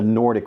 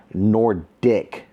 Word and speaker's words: Nordik: So I ended up ordering the Nordic one, which is what you see right here. This smooth surfaced desk mat that you see right here is from this company called Nordic. N-O-R-D-I-K. Nordic.